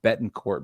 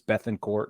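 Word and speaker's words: Bethancourt: I always want to call him Bettencourt, but it's Bethencourt, and it bugs me.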